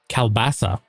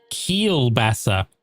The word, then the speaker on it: kielbasa: This is pronounced kielbasa. Kiel basa.